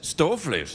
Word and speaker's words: stoofvlees: You know, hey, you didn't say it properly. You got to say it like this, stoofvlees.